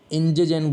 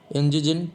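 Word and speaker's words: entgegen: ई और जेड को हम जर्मन में डिफाइन करते हैं अगर, तो इंजेजेन बोलते हैं इसको। क्या बोलते हैं? इंजेजेन। टी साइलेंट होगा।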